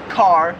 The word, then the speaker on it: car: So for example, we would say car, where here in Australia, it's just like ca. Like they hardly say the R.